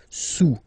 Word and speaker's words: sous: Don't pronounce the final S, and then this OU combination of vowels is pronounced OU. Okay, sous, sous.